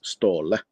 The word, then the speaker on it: Ståle: me Captain but my my Christian name is stall stall and you must say it in that fashion otherwise it's not